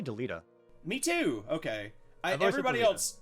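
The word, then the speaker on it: Delita: how do you say uh delta i say deleta me too okay everybody else everybody else says deleda like everybody i know i've never heard deleted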